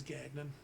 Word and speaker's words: Gagnon: the as bastardized American way to say it is Gagnon. Gagnon. Gagnon. Gagnon. It's not very. Sounds like more German when you say it like that, but it's actually like French. Gagnon. You know, Hi- old Gagnon. But yeah, it's Gagnon. Fancy French.